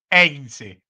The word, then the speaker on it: Heinze: ¿Cómo se pronuncia el apellido de el gringo Heinze? sería Heinze. Bueno, él, un día le preguntaron y dijo que es Heinze. Yo Claro, dije, no bueno, nombra la H.